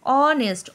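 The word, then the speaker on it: honest: number two বলছে হি is dash অনেস্ট ম্যান অনেস্ট অয়ে উচ্চারণ হচ্ছে যদিও বা এইচ দিয়ে লেখা সেজন্য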